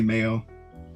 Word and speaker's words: Mayo: that's how you say it you just say Mayo you could also pronounce it as Mayo which was what I